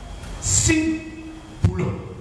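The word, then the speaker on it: σύμβολον: Or, le mot symbole est un mot grec, on prononce symboulon.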